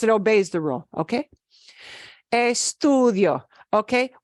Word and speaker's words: estudio: obeys the rule okay eStudio okay one thing to know is d-i-o the i o hangs together that's a diphthong right eStudio eStudio okay Entre